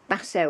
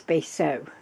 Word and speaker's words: Basso: but so now I think I've got that pronunciation right I'd said to you before when I mentioned it Basso or bass so anyway I decided to look